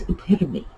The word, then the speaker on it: epitome: huge hint going in it comes to us directly from the greek if you've ever studied greek then you know what it's pronounced like so epitome it's not um it's not epitome and it's not you know it's that tome even though that is an english word it's epitome now epitome is this delightful